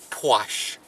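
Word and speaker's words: płaszcz: Because you have to have the C, and it's just like German. You pronounce all of the letters. It's sh, sh, sh, pwash.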